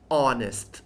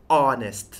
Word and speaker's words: honest: ค่ะ คำ ที่ 25 honest honest นะ คะ คำ นี้ ไม่ ได้ ออก เสียง ว่า honest คำ นี้ นะ ค ไม่ ต้อง ออก เสียง H นะ คะ ให้ ออก เสียง ว่า